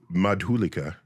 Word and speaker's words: Madhulika: much longer first name madula madhulika madhulika very good you really do the soft uh tones like the French and the Italians they pronounce my name the best the best they